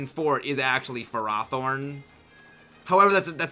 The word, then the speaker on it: Ferrothorn: differently than Ferrothorn but I will not say fur athorn it's Ferrothorn or Ferrothorn it is not Ferrothorn no it's